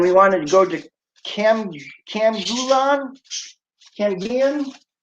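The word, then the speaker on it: Camiguin: And we wanted to go to Camgulan? Camgulan? How do you say that, Mercy? Camigan?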